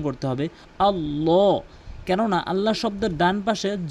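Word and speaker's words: اللهُ: এখানে অধিকাংশ লোক এই মার করে দিয়েছি, এই জায়গায় বলে আল্লাহু লা ইলাহা। আল্লাহু আল্লাহু বলা যাবে না, বলতে হবে আল্লাহু। এখানে আল্লাহ শব্দ পুর হবে।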